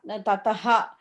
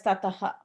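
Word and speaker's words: tataḥ: Not Tataha. Like when you say the word just by itself, it will be pronounced as Tataha. But when you're saying together, you skip that syllable, ha syllable.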